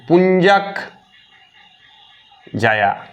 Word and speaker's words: পুঞ্জাক জায়া: ইয়ার নাম হচ্ছে পুঞ্চাক জা, উচ্চারণ শুনো, লেখাটা বোঝা যাবে, মানে পুঞ্জাক জায়া।